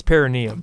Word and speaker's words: perineum: I believe it's perineum, but yes.